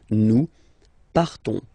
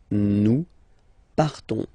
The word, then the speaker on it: partons: So classic ending O-N-S, you don't pronounce the S, you just have this on sound nasal. Nous partons. Nous partons.